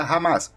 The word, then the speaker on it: Hamas: Foram esses grupos que fundaram em 1988 o Movimento de Resistência Islâmica, cuja sigla em árabe se pronuncia Hamas, mas também significa entusiasmo ou zelo.